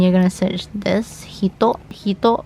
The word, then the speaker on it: 人: Hito can also be pronounced as jin, but because it's between 2 hiragana, you will read it in the onyomi form, which is hito.